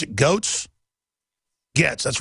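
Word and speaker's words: Goetz: New York subway yeah Bernard uh did you pronounce it goats GS that's right Bernard GS we had a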